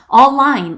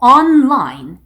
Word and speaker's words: online: online이라는 단어도 발음을 좀 급하게 하다 보면 online 이렇게 발음이 될 수가 있거든요. N 발음을 안 하시면 안 돼요. on에서 N 발음으로 마무리를 해주시고 line이 따로 나와야 됩니다. 그래서 online 이게 아니고 online 이렇게 정확하게 발음을 해주셔야 돼요.